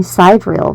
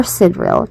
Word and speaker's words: sidereal: NASA's 2016 blog post on the topic caused public confusion, but it was clarifying side rail versus or sidreil depending on your pronunciation versus tropical zodiacs.